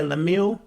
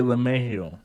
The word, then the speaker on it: LeMahieu: Yeah, Lemieux. 6 years. Did I say his name wrong? Yeah, DJ Lemahieu. Oh, Lemahieu. Okay.